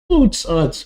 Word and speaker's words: Oots: Actually, it's pronounced Oots.